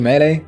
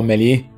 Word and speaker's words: Melee: I pro player di Melee? I pro player di Fragole! In italiano viene più naturale pronunciarlo tipo Meli, Meli, però no, dovrebbe essere Mele, quindi cerco di dirlo bene.